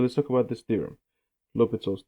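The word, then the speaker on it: L'Hôpital: talk about this theorem lopital's theorem it's really called l'hopital's Rule and by the way a lot of times you'll see this spelled like a hospital right but it's the same thing now um now here's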